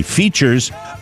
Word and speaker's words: Feetures: Features, spelled, by the way, Feetures. That's how they say it.